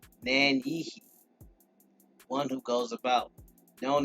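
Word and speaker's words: Nanyehi: chat Nancy watch out falling debris name is pronounced man-yi one who goes about known in English as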